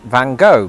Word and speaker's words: Van Gogh: And at some point while I was living in Britain, I learned that Americans pronounce it van go because again presumably somebody saw the word though and made a similar choice.